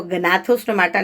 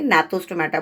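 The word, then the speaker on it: Gnathostomata: नथा और नथो स्टोमेटा जी साइलेंट टेस्टम तो उसको गनाथ स्टोमेटा नहीं बोलेंगे नाथस स्टोमेटा बोलते हैं एक नाथा में लक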